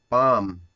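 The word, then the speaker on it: palm: पाम, पाम यहाँ पर L silent है बच्चों, पाम।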